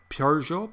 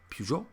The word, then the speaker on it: Peugeot: is the french version if you actually listen to french people say the word it's like peugeot peugeot you know it's both so they even they go both so no one knows how to pronounce it really even i've even met